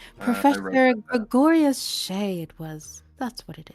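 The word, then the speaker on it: Shae: Professor Gregorius Shay it was. That's what it is. How do you spell that?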